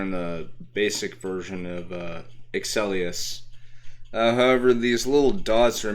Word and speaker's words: Strikerz: It's just Strikerz themselves have these special spirit-like beings in them called Strikerz. I'll spell it in the chat. There we go. So it's Strikerz, but you still pronounce it as Striker.